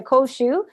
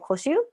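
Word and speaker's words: 甲州: So if you see koshu, not koshu, because by the way, koshu with the U, like on the accent on the U, is a grape, is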